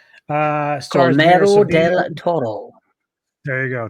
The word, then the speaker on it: Guillermo: I can never pronounce his first name. My fault, G. Guillermo del Toro.